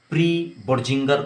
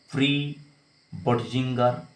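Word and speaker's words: pre-Bötzinger: इसका नाम क्या है, ये बड़ा इंपॉर्टेंट है, इसका नाम होता है प्री बर्जिंगर कॉम्प्लेक्स, प्री बर्जिंगर कॉम्प्लेक्स, ठीक।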